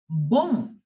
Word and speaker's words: bon: Bon. Okay, you don't have to pronounce the N properly. It is partially silent. It is bon.